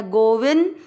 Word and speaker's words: गोविंद: गोवी मात्रा ये शब्द के बीच में जो बिंदी है उसका उच्चारण होगा आधा न गोविंद। द में मिक्स करेंगे गोविंद।